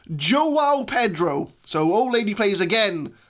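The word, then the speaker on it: João Pedro: And, Old Lady Plays has left me a comment in one of my other videos saying that it's actually pronounced Joao Pedro.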